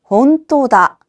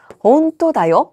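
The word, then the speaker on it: ほんとだ: 혼토다. 그런데 혼토다라고 했을 때는요. 조금 AI 같아요. 그래서 온토다 온토다라고 하시면 되겠습니다. 자,이어서 사과 표현을 보도록 하겠습니다.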